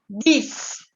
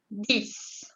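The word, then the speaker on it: dix: Et el número 10, vous dites 10. La X se pronuncia como una S. 10.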